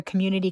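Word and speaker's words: QMNTY: and benefit show for Community Closet. That's happening on December 23rd. If you're not familiar with them, uh, the community center, this is spelled QM NTY.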